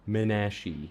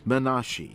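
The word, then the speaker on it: Menashe: I'm pretty sure it's Manashi cuz I actually did a cursory amount of research for my last video in that I Googled how to pronounce it. Manashi correctly pronounce the name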